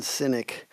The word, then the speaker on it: Sinek: Am I pronouncing their names wrong? It's definitely Yeah, it's Goden and Synynic.